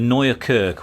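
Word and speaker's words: Nieuwe Kerk: We're standing in Dam Square beside the Royal Palace, the Nea Kirk. Well, I think that's how you say it and it means new church and it's where the exhibition is being hosted.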